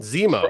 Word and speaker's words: Zemo: else, even like Nemo, Baron Nemo, the fish like, no, Zemo, right? You said Nemo. Sorry. Zemo, I knew I was saying it wrong.